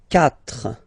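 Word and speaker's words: quatre: When we've got this C letter and then a vowel after then we will we will have to put this uh okay. Okay. So you get this c. But then the sound that you will pronounce is ka.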